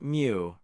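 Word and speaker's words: μ: The Greek letter mu pronounced mu represents the population mean.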